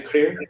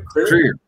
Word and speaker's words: Krier: Yeah, I mean, if you wish, you could do a more Germanic pronunciation of my last name, Krier. We do it, Krier.